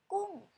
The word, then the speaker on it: กุ้ง: In Thai we say gung, this is the g and the u and ng, so this make its falling tone.